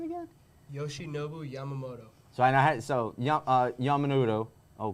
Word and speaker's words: Yoshinobu Yamamoto: Yoshinobu Yamamoto.